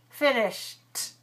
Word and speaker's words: finished: in the end voiceless so finish plus ed finished finished finished i finished my work